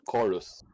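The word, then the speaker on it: Quorus: the factions fight over is called chorus but spelled with a q-u-o instead of a c-h-o so you know that's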